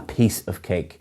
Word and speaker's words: piece of cake: And again, the pronunciation is a piece of cake. You're stressing piece rather than cake.